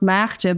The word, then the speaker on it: Maartje: well it's a matcha it's pronounced matcha but when we moved people couldn't say that so I had to change it to marcha so really happy days